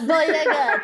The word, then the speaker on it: Boyega: Give me that Boyega. There's 3. It's 3 John Boyega, syllables.